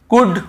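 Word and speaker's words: could: रहे क्यों क्योंकि सॉरी एल को नहीं पढ़ रहे क्यों क्योंकि वो डी के पहले है डी के पहले यदि एल है तो हमें उसे नहीं पढ़ना है कुड वल्ड शुल्ड नहीं पढ़ना है केवल कुड वु ड शु ड कुड वुड शुड यहां पे एल का रोल ही नहीं है कुड वुड शुड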